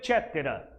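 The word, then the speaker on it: Inter caetera: Se escreve coetera, se pronuncia cetera.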